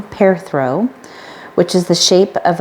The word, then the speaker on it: Perthro: the time between battles perthro pronoun pronounced pair throw all right I've been saying it wrong pair throw which is the shape